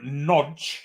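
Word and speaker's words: Nagy: off uh and Adam noge is coming on think he's name is Adam is one of them noes that's pronounced it's spelled n a y but it's pronounced noge that's what the Hungarian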